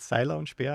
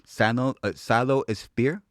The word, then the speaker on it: Seiler und Speer: It's called Seiler Und Speer. I would love to hear you pronounce it.